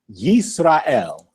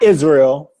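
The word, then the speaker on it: ישראל: Yisrael. Not Israel, but Yisrael. English, Israel. Hebrew, Yisrael.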